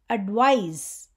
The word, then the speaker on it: advise: between these two words advise it is a verb and it rymes with realiz in pronunciation so what is advise